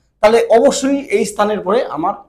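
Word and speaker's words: へ: বোঝায় ওই জায়গার পরে এই পার্টিকেলটা ব্যবহার করব। এটা যদিও হিরাগানাতে হে বলে কিন্তু যখন পার্টিকেল যেহেতু পার্টিকেল হিসেবে বসছে এজন্য এটার উচ্চারণ হবে এ পার্টিকেল।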